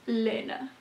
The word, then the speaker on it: Elena: is Elena magazine and I looked it up online how to pronounce this it is Elena at least that's how the French lady told me it was Proust